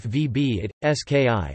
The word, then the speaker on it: Wybicki: Józef Rufin Wybicki, Polish pronunciation, Józef VB it, SKI, the 29th of September 1747 to the 19th of March 1822, was a Polish jurist, poet, political and military activist.